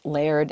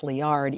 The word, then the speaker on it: Liard: spring and you know I've heard that pronounced layered and liard and I finally asked several locals and they said it's liard even though the person who was working at the gate at the at the hot spring pronounced it layered I don't think she was from around there so anyway I'm gonna pronounce it liard and we had been